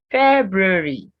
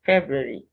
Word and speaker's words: February: that's the red pronunciation february february you have the two hours being pronounced so say february wednesday wednesday so it's